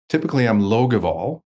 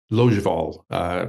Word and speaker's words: Logevall: Typically I'm Logevall, so with a hard G. But I think, Iris, for the purpose of today's seminar, Logevall is a much better.